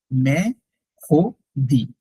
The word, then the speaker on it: mercredi: আর সি আর ই, খো, কারণ ই তো হচ্ছে ফ্রেঞ্চে ও। মে, খো, দি, ইট সাউন্ডস মেখোদি।